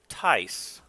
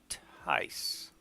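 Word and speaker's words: Tijs: Tice, like ice, with a T in front of it. T-I-J-S. Tice.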